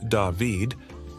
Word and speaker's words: David: Then there's David, pronounced David, which might surprise some.